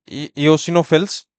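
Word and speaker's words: eosinophils: कौन कौन से हैं, इयोसिनोफिल, इयोसिनोफिल, प्रोनाउंसिएशन आप ध्यान रखिएगा, इयोसिनोफिल्स।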